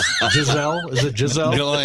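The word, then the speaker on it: Gisele: Well, she's not Gazelle either. Jazelle.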